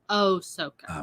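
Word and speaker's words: Ahsoka: guy all disney guy thinks you're saying it wrong it's oh soca okay darth maul was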